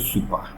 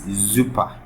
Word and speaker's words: super: this is super but it's not super it's zuper Zer and the reason was that if the S comes before a v the pronunciation or tonation changes to Z okay maybe you have